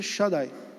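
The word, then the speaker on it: Shaddai: e a pronúncia desse nome Xandi seria mais próximo de Shadai Shadai alguém consegue fazer associação com alguma coisa é o Shadai que nós temos na Bíblia os israelitas é o Shadai e a pronúncia seria Shadai é retratado que esse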